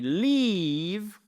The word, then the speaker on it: leave: Si vous dites I leave, je pars. I live home at 8m each morning. Je pars de la maison à 8h chaque matin. Mais vous avez aussi we are now live. Alri live leave live.